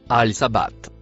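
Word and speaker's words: السابحات: Le mot écrit en rouge se prononce al Sabbath.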